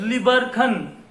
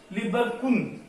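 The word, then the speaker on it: Lieberkühn: नाम है क्रिप्टस ऑफ लिबरखन, लिबरखन है ना, हाँ देखो बेटा क्रिप्टस, क्रिप्टस, क्रिप्टस ऑफ लिबरकुन, एच को हमने साइलेंट कर दिया, लिबरकुन।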